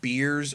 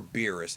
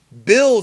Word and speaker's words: Beerus: Wiese and beerus and it's written beers you can pronounce his name beers or beerus it does are correct bills is the one that's incorrect unless you're watching the Spanish dub but BT su beers